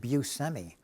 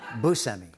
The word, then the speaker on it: Buscemi: Growing up, we said Buscemi, which is like I can't even do that anymore. So now I say Buscemi. You said Buscemi. I sort of take a little bit from each pronunciation. I don't know how to say my own name.